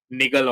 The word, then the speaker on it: niggle: It rhymes with tickle. No, not tickle. Wiggle. With wiggle. With the wiggle.